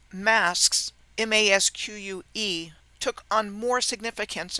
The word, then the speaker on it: masque: The English word masque, M-A-S-Q-U-E, is phonetically identical to the word mask, M-A-S-K, a word which describes hiding something from view.